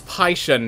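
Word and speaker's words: Pishon: I was constantly told it's Pyshen, not Fishen, because I pronounced it Fishen, and then everyone was saying it was Pyshen. And I'm pretty sure, yeah, they actually pronounce it Pyshen in the commercial. Like, P-I-S-H-O-N. So it's Pyshen, as far as I understand.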